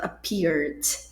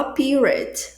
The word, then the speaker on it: appear: Gente, esse verbo aparecer appear no passado, apear é o segundo grupozinho de pronúncia da latinha de refrigerante abrindo e não vai pronunciar o é porque o é só é pronunciado no terceiro grupo, ou seja, quase nunca é pronunciado é, né? Cuidado para você não falar aparente. Aparent não, gente, não se fala.